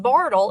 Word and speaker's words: Bartle: says that indicates the other monster this is Bartle pronounced Bartle in your tongue Bardo smiles and act it